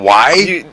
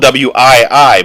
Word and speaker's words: Wii: I mean, it's horrible because the it's Nintendo Y. No, Nintendo Wii. You got it's spelled W-I-I, but it's pronounced Wii.